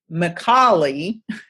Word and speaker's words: Micale: last name because of mi c al e pronounced McCauley and and I love